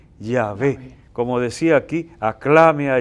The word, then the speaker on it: Yahvé: Lo más común entre los estudiosos es que entiendan que debía pronunciarse aproximadamente Yahvé.